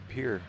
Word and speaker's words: Pierre: here I'll be darn maybe that's why they call it Pier to me it's spelled Pierre but last time I did that people said uh-uh oh so I got